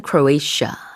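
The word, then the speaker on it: Croatia: 역시 발음 차이가 있죠 우리는 크로아티아 라고 하는데 영어에서는 클로이 샤 라고 합니다 자 그럼 유로화를 채택하는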